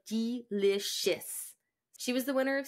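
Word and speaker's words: Deelishis: that really weird because the name is spelled really funny d e right yeah it's d e l i s h i s so it's like delicious she was the winner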